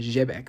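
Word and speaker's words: Xebec: I mean, that's that's how you pronounce it in Japanese technically, Zbec. But I'll cons I'll continue saying Zbec.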